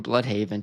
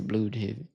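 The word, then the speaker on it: Blüdhaven: Nightwing might show up, which they keep saying Blood Haven, too, which they say the German pronunciation of Oh, yeah. They don't say blood haven. They say blue haven.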